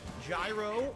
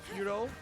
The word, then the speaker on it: gyro: his baseboards okay chicken gyro although I believe it's authentically pronounced like hero or something like that hero instead of Gyro g-y-r-o yes yeah because it's a